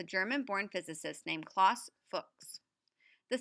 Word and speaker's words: Fuchs: The solution for English speakers pronounced it to rhyme with books.